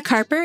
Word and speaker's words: Karper: with Carper Carper is a fiddler and oldtime musician from cap and Bridge West Virginia oh did I say it right bridge that is correct she grew up in